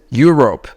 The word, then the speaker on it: Europe: Usually when you have EU come together, E is not pronounced, okay? So this is Europe, right?